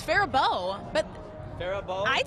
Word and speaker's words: Faribault: Farabalt? That was really close. It's Faribault.